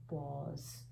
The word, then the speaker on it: was: he our sight word w a makes a sound of voi remember that was was he was remember this